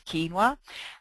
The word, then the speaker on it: quinoa: know what quinoa is it's actually spelled with a Q it's q i no OA but it's it says quinoa um quinoa is a